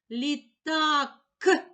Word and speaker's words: літак: а голосний позначаю кружечком літакк к приголосний твердий позначаю однією рисочкою поділимо слово на склади лі так визначимо наголос покличемо слово літак наголос падає на другий склад на склад так наголошений голосний А при